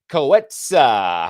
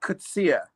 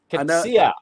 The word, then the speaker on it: Coetzee: Ladies and gentlemen, please welcome to the show, Coetzee. How are you? Hi there, Maurice. Thank you so much for having me on the show. It's actually Coetzee. Coetzee.